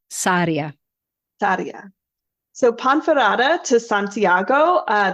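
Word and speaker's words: Sarria: I pronouncing that right if you could roll the RS they'd be happier but Saria Saria so ponera to Santiago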